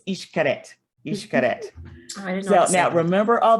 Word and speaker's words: Xcaret: So that's weird word that's spelled Xcaret. That is Xcaret.